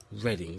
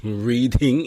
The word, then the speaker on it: Reading: It's pronounced reading in some places, but it's actually Reading.